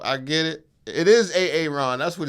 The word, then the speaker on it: Aaron: you say it the first time I said A-A-Ron? Because it's pronounced Aaron. Son of a I love the word jokes cuz I'm dyslexic, so I get it. It is A-A-Ron.